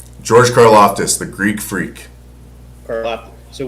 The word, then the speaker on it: Karlaftis: George Karlaftis, the Greek freak.